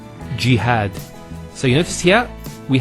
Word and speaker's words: jihad: Next word is jihad. So we have here G, that's the first syllable, and then had, jihad.